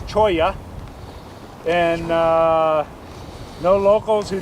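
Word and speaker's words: cholla: is CH it's a choya oh I know you don't c h o l l a but in Spanish you don't pronounce the L's it's choya and uh no locals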